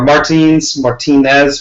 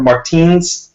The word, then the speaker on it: Martins: Or Martinez, whatever. Martins. That's what it is.